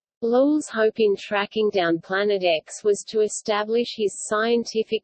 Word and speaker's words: Planet X: used by gabriele dalle the X in the name represents an unknown and is pronounced as the letter as opposed to the Roman numeral 410 at the time Planet X would have been the